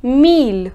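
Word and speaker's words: mille: in French's e however there are certain exceptions in which the sound of i double-l changes and we pronounce Double L yes these are certain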